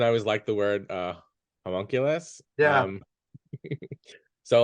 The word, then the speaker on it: homunculus: yeah, the word homunculus. How do you pronounce?